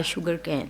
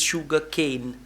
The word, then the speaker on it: sugar cane: making the sugar by sugar cane. Okay, now fluency is the first thing. Second is pronunciation. The word is not sugar can. The word is sugar cane.